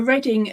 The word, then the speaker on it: Reading: And a Reading as in reading. Yes. So instead of hearing Leicestershire, it's Leicester. That was it. Ooh. Sorry, Leicester. And instead of Reading, it's even reading.